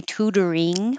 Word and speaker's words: tutoring: connect a in Tor the T changes to a d toring program and you can say tutoring with an in your tongue high in the back or you can change it to the in in the front and it's a little